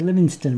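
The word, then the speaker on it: Livingstone: also named the mountains the livingston mountains not living stone as we seem to pronounce it now but livingston as david livingston and you can see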